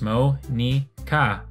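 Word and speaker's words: Monika: saying her name wrong is it supposed to be Monica because if these are Japanese characters it should be pronounced mo nica as like three three character Sybil three characters mo nee kah so is it supposed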